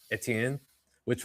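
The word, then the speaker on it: Étienne: Like it's that's definitely like, because it's not like a strictly French. It's like a Cajun French pronunciation of that. Absolutely. Because if you were in French, it would be Etienne, which Etienne, is close.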